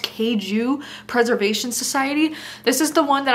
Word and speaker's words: Kaiju Preservation Society: And then while we're discussing sci-fi, I also found this book, which I believe is pronounced Kaiju Preservation Society.